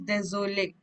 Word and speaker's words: désolé: accent, I told you when there is an accent aigu, we have to pronounce that letter. So it is désolé. Last E we will not pronounce, but the second last one, the accent is there, so we'll pronounce.